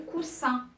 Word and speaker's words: coussin: C'est le coussin. Coussin avec deux S. Et si on ne met pas le deux S, elle va se prononcer cousin.